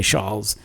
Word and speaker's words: Charles: Those people in France like to pronounce CH as SH. So rather than saying Charles, they say Charles.